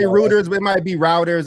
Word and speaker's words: Reuters: It's pronounced Reuters. R-E-U. I always say routers, but it might be routers.